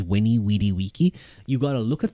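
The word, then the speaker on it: veni, vidi, vici: you, well, um, actually the V is meant to be a W sound, and he said Winnie Wedy waky. Uh, the C is meant to be a K, so it's it was winny weedy waky.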